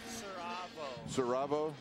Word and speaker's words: Saravo: No, no, pronounce it for me. Saravo. Saravo?